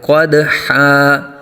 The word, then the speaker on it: قدحا: پڑھیں گے۔ فالموریات، آگے قدحا، قدحا قوف کو اوپر پر آ جائے گا، اور دال ساکن میں قلقلہ کریں گے، قلقلہ خوب ظاہر ہوگا۔ قدحا، قدحا نہیں